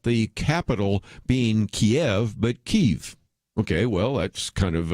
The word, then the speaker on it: Kyiv: Well, Ukraine, sort of wanting to move away from Russia, decided that they would use, as would make sense, the way Ukrainians would actually pronounce those Cyrillic words, and that's why we go from Kiev to Kyiv.